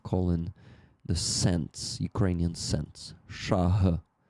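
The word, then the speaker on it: шаг: Shah. This h is something between G and H.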